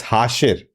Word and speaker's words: Hashir: any comments My god, I said it wrong. It's hashir.